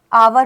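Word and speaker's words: hour: S silent होता है। देखो जरा देखो आवर हो गया है ना क्या हो गया?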